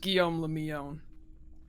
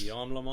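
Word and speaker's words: Guillaume Le Million: It's just Guillaume Lemillon. Yeah, I can't do that. That name rules. It rhymes. Guillaume Lemon? Guillaume Lemillon. It's all Guy Lafleur to me, man. That's all I got. That's all I got. Yeah, so he Yeah, died. if it doesn't rhyme, you're not pronouncing it right.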